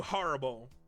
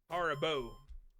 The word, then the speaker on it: Haribo: How do you say them? Haribo. Haribo. Okay.